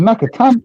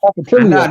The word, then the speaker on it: Nakatani: H is it Nakatani? Not Nakatilia. Not Nakatilia.